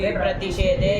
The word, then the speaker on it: विप्रतिषेधे: अरे विप्रतिषेधे संयोग परे होते गुरु हो जाता है ना, इतना उच्चारण कदम को नहीं आया अभी। विप्रतिषेधे विप्रतिषेधे।